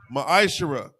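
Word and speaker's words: ma'aser: It's pronounced ma'ashera.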